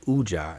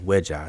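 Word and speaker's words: wedja: People pronounce it Uja instead of Weja, so it should be Unk Weja Seneb.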